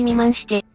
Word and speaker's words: 未満都市: 僕らの勇気未満しィちなみに未満とと書いて未満しィと呼ぶぜおしゃれな読み方するじゃん日本テレビ系